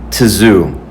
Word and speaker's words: Tszyu: versus Tim Tszyu and I I think it's pres out pronounced Tszyu. A lot of people are saying Zoo, Tim Zoo, but that's okay.